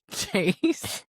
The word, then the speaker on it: Jace: Well, you better call me Jace. No, I honestly thought it was sounding like Jack at first. I thought I was about to say pronouncing the a little weird.